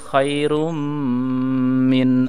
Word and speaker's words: khairun min: Lailatul Qadari khairun min alfi syahr. Tapi bacanya Lailatul Qadari khairum min alfi syahr ya.